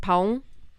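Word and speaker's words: pão: but we don't have they have an ao sound. So like pong is bread and like melone that's melon. Um there's a lot of words that have a o. Pong is spelled p ao. And it's so hard to say correctly.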